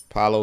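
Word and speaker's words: Palo: Apollo Apollo is Apollo Santo how do you spell that p-a-l-o p-a-l-o Paolo Santo and it just actually means uh sacred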